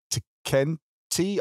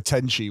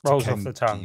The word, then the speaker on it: Tenkaichi: original series was called Dragon Ball Z Budokai Tenkaichi. I can never remember what the last word was. I always said Budokai Tenchi when I was a kid, and then I realised it's like Tenkaichi or something like that.